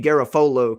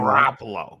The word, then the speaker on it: Garoppolo: Jimmy Garofolo can't do it. Say his name. I got his name Garoppolo. Right. Yeah. I said Garofolo. I threw an F in there too.